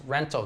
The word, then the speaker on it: rental: on because an American we usually cut off the tee we don't really say in conversation I'm going to get a rental car we say rental car so that's how i'm going to pronounce rental car in the story but